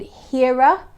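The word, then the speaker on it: Hera: be available i'm excited for it it's called hira which is spelled h-e-r-a and the notes are orange blossom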